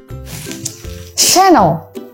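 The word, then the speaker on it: Chanel: Okay, so we can pronounce it Hermes. Hermes. Yang kelima ada she-nel.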